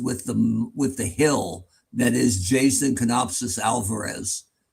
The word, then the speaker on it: Jason: the hill that is Jason Canopsis Alvarez, you pronounced his first name wrong. Did I? You said Justin.